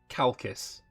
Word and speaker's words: Chalkis: Please pronounce CH as K. Which one was that? Chalkis.